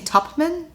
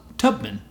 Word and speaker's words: Tubman: Am I saying it wrong? Yeah, you keep saying Tubman? Yeah? It's Tubman. Okay. Harriet Tubman. I guess we're saying the plosives, like, slightly differently.